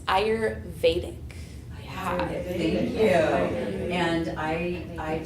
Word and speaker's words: Ayurvedic: I said Ayurvedic. Is it Ayurvedic? Okay, very close. Ayurvedic.